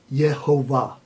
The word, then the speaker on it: Yehovah: And I am convinced, after some very compelling study, that the name to be pronounced properly should be Yehovah, the name Yehovah. And the vowel pointing on the name is what determines that.